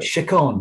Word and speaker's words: Chacon: The next song is called Chacon. Is that how you say it? Chacon, yeah.